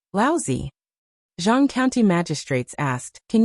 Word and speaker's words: Laozi: Zhang County magistrates frowned and said, Laozi. Li Mu corrected his pronunciation and said, Laozi.